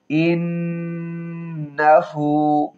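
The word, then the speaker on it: إِنَّهُ: একসাথে মিলাই পারি ওসতাফিরহু ইন্নাহু তাহলে গুনাহ হবে কিন্তু ওয়াসতাফির ফাসাববিহ বিহামদি রব্বিকা ওয়াসতাফির ইন্নাহু ইনা হবে ইন্নাহু হু এক আলিফ টান হবে উল্টা পেশ আছে ইন্নাহু কানা কানা কাপে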